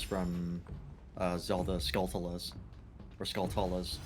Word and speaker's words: Skulltulas: uh zelda skeletalis or skulltulas not sculpturals as they're supposed to be pronounced oh yeah cause like skull and tarantula yeah all right all